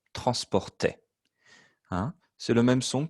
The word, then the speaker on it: transportait: Even though it looks a bit funny, le A-I-E-N-T. En français, c'est le son est. Transportait.